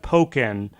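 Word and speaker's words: Pokkén: stream and it's it's it is pronounced poken with a long o sound um that's okay I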